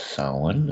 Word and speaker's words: Samhain: But yeah, I believe it's pronounced Samhain.